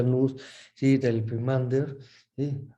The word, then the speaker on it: nous: O el nous, o nous, que se escribe nous, se pronuncia nous, ¿sí?